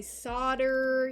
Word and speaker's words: solder: are not in america we say solder even though it's spelled and pronounced everywhere else solder so i apologize in